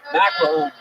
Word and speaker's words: McElhoney: McElhoney. McElhoney. It rhymes with tackle zone.